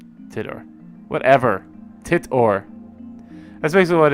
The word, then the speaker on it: Titor: Get in touch with Tider. Tidor, whatever.